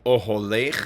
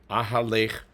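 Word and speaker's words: אָהֳלֵךְ: Oholech, in that case, it's both in the third line That's the second verse, third word. It is pronounced oholech. Ahalech wouldn't just be different, it would be really wrong.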